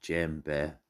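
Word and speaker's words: djembe: of african drumming origins is widely believed that gembe pronounced gem bear has its origins with the new a social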